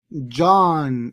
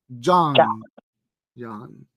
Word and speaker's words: John: Ahora, si usted dice John, entre O y A, John, es una O, es una O que suena como A. John. The gospel according to John, ¿ok?